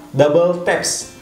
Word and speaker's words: WTAPS: Jadi bacanya ini adalah Double Taps.